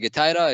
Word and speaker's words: GETIDA: Essentially, I pronounce it GETIDA. You can actually also pronounce it GETIDA.